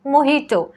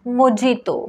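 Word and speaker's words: mojito: next आहे महिटो और मोहितो एंड इट्स नॉट मोजितो मोजितो चुकीचा आहे नेक्स्ट आहे रिसीप्ट रिसीप्ट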